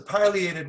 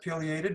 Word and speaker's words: pileated: but this is a pileated woodpecker some people pronounce it periated both are acceptable um yeah this is